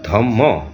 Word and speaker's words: ধর্ম: যেমন আমরা ধর্ম এটাকে ধম্ম হিসাবে আমরা উচ্চারণ করি।